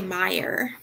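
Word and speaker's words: Meier: sprouse's name mere m-e-i-e-r how do you say her last name who me yeah me or oh say it i would say meyer fire okay so then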